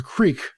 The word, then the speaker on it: creek: take the barrels oh there's there was a creek not Crick yeah yeah yeah that's what they think it